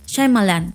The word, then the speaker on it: Shyamalan: Yo ya vi cómo él se presentó a sí mismo y es Shyamalan. O sea, Shyamalan.